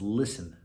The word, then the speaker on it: listen: words number 12 is listen now if you listen to listen you'll notice it has a silent letter it's the letter t in the word listen you don't hear the t ladies and gentlemen i